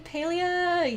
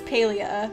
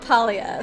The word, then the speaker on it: Palia: chippy's Avatar you mean origination hello welcome in paleo yes I believe the correct pronunciation is Paleo based on what I read from their Discord my instinct is to call it palia so I might say the wrong thing or